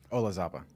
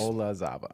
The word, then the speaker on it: Olazaba: Carlos, I'm going to need help pronouncing your last name. Olazaba. Carlos? Olazaba, yeah.